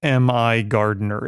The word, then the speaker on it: MIgardener: didn't know how to pronounce I was like me Garder my Gardener uh the proprietor pronounces it Mi Gardener it turns out uh this is a PDF